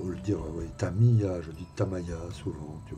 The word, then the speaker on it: Tamiya: un gars qui me gonfle parce que je prononce pas les bons, tu vois. Voilà. Alors, le dire Tamaya, ou le dire Tamiya, je dis Tamaya souvent, tu vois, donc on me fait une petite réflexion.